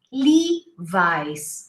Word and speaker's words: Levi's: teachers did you know we don't say levis we say levi's lee vice okay and then we